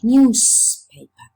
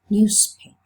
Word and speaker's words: newspaper: But when you say newspaper, some people pronounce it newspaper. Because of the voiceless p, they pronounce that z, they make it voiceless. Newspaper. While some others keep the voiced sound. So in the case of newspaper, some people pronounce it newspaper and some others newspaper. Both. Both options are okay.